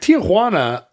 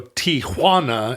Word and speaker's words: Tijuana: I try not to, but like Tijuana, I think that extra A is suggested by the pronunciation of a hua, the J, right? Yeah, There's a hua that leads into it. Stretches out, yeah. And to just go Tijuana is, you're missing a beat, like a rhythm.